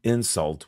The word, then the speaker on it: insult: insult is a noun notice that the first syllable for the noun is stressed the insult was unintentional but it